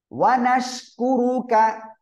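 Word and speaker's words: وَنَشْكُرُكَ: ওকে তাহলে দেখুন ওয়ানা তাওয়াক্কালু আলাইকা, সবাই আবারও বলুন, আকালু আলাইকা ওয়ানুসনি আলাইকা الخير, একসাথে বলুন, ওকে তারপরে দেখেন ওয়ানাশকুরুকা, একসাথে বলেন, ওয়ানাশকুরুকা, সবাই এভাবে পড়তে হবে, এই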